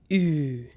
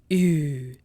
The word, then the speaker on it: ü: U with umlauts, its pronunciation is Ü. Ü. Now for that, you can take the English word huge, huge, and drop H and GE. You'll be left with the sound of Ü sound.